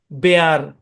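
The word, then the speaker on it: bear: খেয়াল করেন, বি ই এ আর উচ্চারণ কি? বেয়ার।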